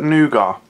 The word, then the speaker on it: nougat: selected product from Aldi this is white chocolate nuga and that is how you pronounce it what's it got in it coach